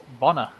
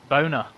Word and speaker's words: Bonner: Some people told the commentator how to pronounce the goalkeeper's name from Ireland, but they told him it wrong deliberately because the goalkeeper's name was Bonner, but they told him it was pronounced Boner.